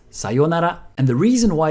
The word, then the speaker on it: sayonara: But my point is, if you do use it, try not to pronounce it the American way. You might be used to sayonara, but it's sayonara.